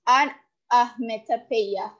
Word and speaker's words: onomatopoeia: Onomatopoeia, pronounced onometopoeia, is defined as a word which imitates the natural sounds of a thing.